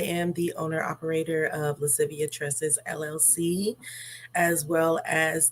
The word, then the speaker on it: Lascivia: very beautiful name and I just wanted to pronounce it correctly is Latin um it is lascivia Tre Latin for playfulness and sultriness which I